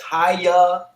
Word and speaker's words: Hialeah: Hialeah. Did I say it right? Yes, Hialeah.